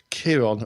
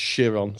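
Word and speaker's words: Chiron: in Greek mythology there was a cental called Kiron or shiron it's actually it's actually spelled Kiron but pronounced shiron so that's Greek mythology for yeah and um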